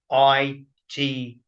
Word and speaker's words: Mureithi: and how that's spelled, because it's not spelt how it's pronounced. So it's Mureithi, So, okay, Collins, listen, my friend, I look forward to doing future episodes with you.